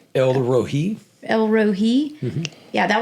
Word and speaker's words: El Roi: that yesterday of like I always called it El Roy. That's what, but I'm from the country. So I guess that's the name that I always thought it was. How do you say it? El Rohi.